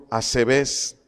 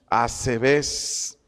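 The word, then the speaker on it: ἀσεβής: los impíos del griego asbes acento en la segunda e asbes acento en la segunda b e Perdón aquí significa irreverentes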